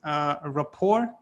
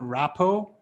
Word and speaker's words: rapport: It's rapport. It's not rapo. It's rapport. R and pour, pouring a glass of water. So rapport.